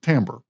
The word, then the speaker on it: timbre: time is timbre it's spelled timber but it's pronounced timbre and i don't know why the english language